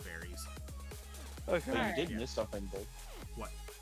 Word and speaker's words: Berry: There's an argument that it's actually supposed to be called belly, but you know, Japanese pronunciation doesn't really have an L sign in it. Yeah. But now it's more universal that it's just berries.